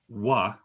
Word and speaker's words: は: But if we are marking a word as a topic, we pronounce it as wa, but we write it as ha, which is confusing, I realize.